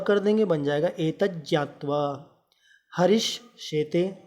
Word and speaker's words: ज्ञा: मित्रों, ज्ञा, इसका उच्चारण होगा ज्ञा, हम लोग ज्ञा बोलते हैं, ये ज्ञा नहीं है, शुद्ध उच्चारण उसका ज्ञा है, क्योंकि ज और न्या से मिलकर के ये ज्ञ बनता है।